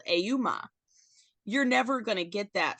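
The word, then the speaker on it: Ehoumn: like a man or something like that but it's spelled auma you're never gonna get that from him saying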